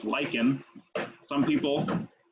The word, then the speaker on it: lichen: eukaryote third is lichen that's pronounced lycan lichen some people pronounce it lichen but it's not legend it's lichen um the